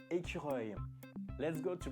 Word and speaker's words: écureuil: And the word squirrel in French, it's écureuil. Let's go to pronounce écureuil with me.